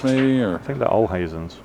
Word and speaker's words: Olhausen: Olhausen, okay. I don't know how you say it in America. Olhazens. There you go. Olhausen. Olhausen. Olhausen, yeah. There you go. That's how we say it in Texas. I don't know about the rest of America.